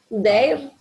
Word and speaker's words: their: Their. Ahí va. Their names. Their. Their, sin la I, no se pronuncia la I, es their names.